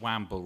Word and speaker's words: wamble: is a rather fun I always pronounce it wamble rather than woman a wamble okay well